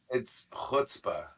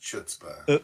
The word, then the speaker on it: chutzpah: It's chutzpah, Oh, I know. not chutzpah. Look, we mispronounced it on purpose, and that's what we're sticking to.